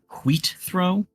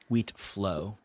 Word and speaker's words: Wheatflow: You say Litholus Wheatthrow? Wheatflow. Litholdus. Litholdus. Wheatflow. Spell it right.